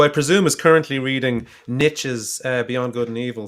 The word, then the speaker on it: Nietzsche: Well, Manuel, who I presume is currently reading Nietzsche's Beyond Good and Evil, says he doesn't hear any difference between the pronunciations.